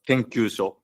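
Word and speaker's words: 研究所: And the first 3 letters are pronounced as Rikagaku, and the last 3 letters are pronounced as Kenkyusho.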